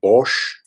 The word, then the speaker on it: Bosch: find a lot of amazing characters or from bosch that's how you pronounce his name one of my favorite illustrators